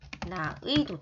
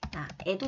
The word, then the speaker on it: 의: 조사의는 어떻게 발음하냐? 의나 에로 발음한다. 써보시면 됩니다. 미안해요. 어이로 발음해요. 그래서 예를 들면 나의 하면 그죠? 나의도 돼. 나애도 된다는 얘기예요.